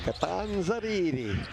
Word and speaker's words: Catanzariti: Well, you were going to go with the full Italian pronunciation. Catanzariti.